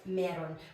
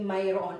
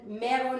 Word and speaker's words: mayroon: you'll read this as meron but it it's not wrong to say Myron as well okay but it's just common meron is just commonly used as the pronunciation of this one so okay how about